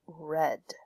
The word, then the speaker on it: read: number four read becomes red it's spelled exactly the same but it's pronounced differently i have read the